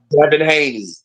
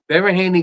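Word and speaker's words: Devin Haney: not them not they dein Haney let me say it right Devon Haney kind of acted like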